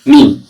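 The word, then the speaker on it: ميم: এরপর যে ছাড়বেন মিম তাহলে দুটো ঠোঁটের ভেজা অংশ একসাথে মিলিয়ে উচ্চারণ হবে মিম মিম তাহলে মিমের মাখরাজ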